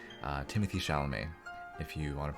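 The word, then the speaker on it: Timothée Chalamet: me crazy but he looks kind of like timothy chalamet uh timothy chalamet if you want to pronounce his name correctly so john tyler i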